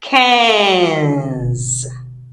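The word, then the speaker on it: cinq: is not qu u in French sounds c we have seen cat not k and those of you have been saying kons it's not k cans cans cans Okay. So, it's cans, not cans. Cans.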